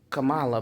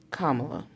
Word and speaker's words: Kamala: And you like me, I used to say Kamala, but I understand that that's not the correct pronunciation either.